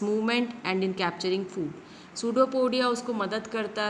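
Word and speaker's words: pseudopodia: सूडोपोडिया। ये पी जो है वो साइलेंट है और सिंगुलर को बोलते हैं सूडोपोडियम।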